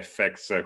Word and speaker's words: FX: con gioco di parole FX che si legge FX come effetti speciali Eh che ci permette